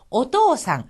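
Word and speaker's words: お父さん: 자, 여기에서는요, 토라는 오 모음을 갖는 다음에 히라가나 우가 이어졌습니다. 이렇게 오 모음 다음에 우가 오면은 오의 장음으로써 길게 발음이 나서 오토상, 한 박자만큼 길어지는 겁니다.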